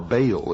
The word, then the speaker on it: Baal: For this is the only ancient portion, the beginning of the ancient worship of Baal, or Baal as some pronounce it.